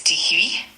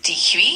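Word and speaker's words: dix-huit: 18 is due and it's spelled d iix h ui t.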